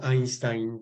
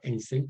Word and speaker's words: Einstein: Y en alemán, pues el EI se pronuncia Ein, ¿sí? Como Einstein, por ejemplo. Tenemos derecho a pronunciar Einstein también, si queremos, ¿verdad?